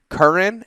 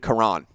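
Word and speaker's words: Karan: lives in the us it's curran and quran i would say quran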